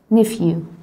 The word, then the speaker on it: nephew: كان اسمه nephew وقلنا ال p and h هي اللي بتنطق يبقى ناقص حرف ال p and h nephew.